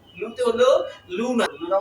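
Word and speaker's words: luna: জানি এরপর হচ্ছে এলমে উ লু লুতে হলো লুনা লুনা মানে কি চাঁদ এরপরে যে বর্ণটি রয়েছে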